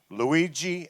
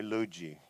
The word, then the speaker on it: Lugee: Luigi.